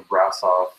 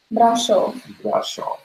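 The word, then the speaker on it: Brașov: I'm not saying it right, so Brasov. Brasov. So yeah, by the time we got to Brasov, I was stressed and irritated, but it didn't last.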